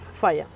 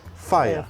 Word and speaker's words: Faia: Here you have the Faya, how do you pronounce it? Faya. Faya.